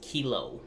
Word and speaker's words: Kylo: it really mean and originally it was going to be pronounced kilo oh no but I like kylo more yeah kilo no no